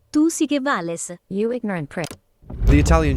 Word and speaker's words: Tu Si Que Vales: Tu Si Que Vales. Tu Si Que Vales. No. Hey Siri, how do you pronounce this? It's pronounced Tu Si Que Vales, you ignorant prick.